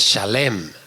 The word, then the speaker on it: Salem: Entonces, el vocablo en el griego que nosotros vemos o leemos como Salem, en la pronunciación es Shalem.